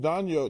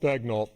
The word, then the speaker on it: Daigneault: So, coach Daniel Daniel, is that how you say it? Daigneault. Daigneault and Shay, man, they do a good job.